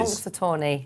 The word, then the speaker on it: Punxsutawney: How do we pronounce the Ellison horse? Punxsutawney Phil. Do you know who Punxsutawney Phil is? Punxsutawney. That's it. Punxsutawney.